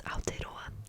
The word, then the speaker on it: Aotearoa: The Maori name for New Zealand is Aotearoa. I'm tongue twisting myself. Aotearoa is spelled A-O-T-E-A-R-O-A.